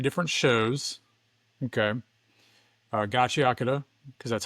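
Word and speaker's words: Gachiakuta: Gachi Akata, because that's how you pronounce it.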